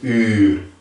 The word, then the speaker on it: uur: Uur. Uur. Wat betekent uur?